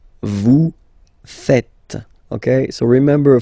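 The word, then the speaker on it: vous faites: oh no no it's Vu fet Vu fet okay so remember final s here is not pronounced and then this is not pronounced either so fet fet V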